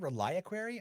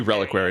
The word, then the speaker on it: reliquary: of illumination it's called reliaquary oh my gosh oh is it should be reliquary not reliable that's why it's reliquary no no no no